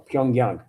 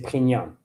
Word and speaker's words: Pyongyang: Depends depends on policies of Pyang or Pyongyang, how you say it in English. Pyongyang in Russian we say Pyang.